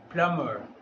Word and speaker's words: plumber: Repeat after me, plumber. B is here a silent letter.